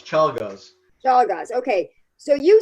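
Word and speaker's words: Czolgosz: guy who killed McKinley, whose name I can't pronounce. Chalgaz. It's hard to pronounce. Chalgaz.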